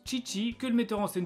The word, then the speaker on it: Chichi: amoureux de chichi que ici ça se prononce chichi que le metteur en